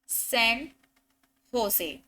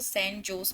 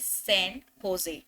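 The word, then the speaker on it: San José: इसकी जो प्रोनाउंसिएशन है इसकी स्पेलिंग से एकदम अलग है ना. कोई पहली बार इसको पढ़ेगा तो सेंट जोस पढ़ेगा, बट the correct pronunciation is सेंट होजे. ठीक है. इट्स सेंट होजे.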